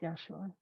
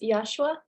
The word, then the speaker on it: Yeshua: Who else is ready to share with Yeshua? Well, I have a question, if that's okay to ask. And is your name pronounced Yashua? It's Yeshua, but Yeshua.